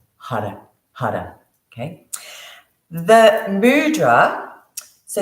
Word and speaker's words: Har: going to be using the Mantra hard h a r you're going to roll your R and if you can't roll the r as I can't we do like a du sound or l sound so you're flicking your tongue against the roof the your pallet so